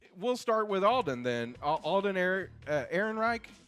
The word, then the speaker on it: Alden Ehrenreich: Alden Ehrenreich, I believe is how you say his name.